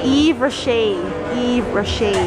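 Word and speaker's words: Yves Rocher: How do you pronounce it? Eve Roche.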